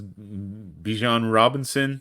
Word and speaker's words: Bijan Robinson: Is this because Bijan Robinson is that how you pronounce his name?